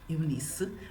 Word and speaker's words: Eunice: I said Eunice because it's how you say it in English, but in Portuguese it's Eunice.